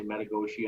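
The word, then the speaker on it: Metigoshe: We also have a lake cabin at like the Americans say Metagoshi on the U.S.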